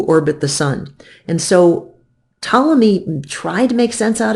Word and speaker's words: Ptolemy: the heavens was an Egyptian astronomer named Claudius Ptolemy the P is silent so Claudius Ptolemy looked at all of the data from the